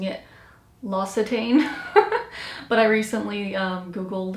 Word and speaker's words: L'Occitane: I believe it's pronounced, all these years I've been pronouncing it L'Occitane, but I recently Googled how to pronounce it, and I believe it's L'Occitane or L'Occitane. But yeah, this is the lavender bubble bath.